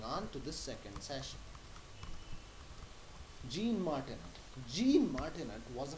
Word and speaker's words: Jean: If you say Jean in French, it is actually pronounced as Jean, not Jean.